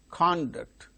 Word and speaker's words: conduct: a look like thing a record record similarly conduct conduct conduct the conduct of examinations the conduct